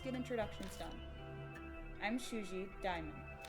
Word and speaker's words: Daimon: I'm Shuji Daimon. Or Damon, I can't pronounce things. I think it's Damon, that's how I would always pronounce it.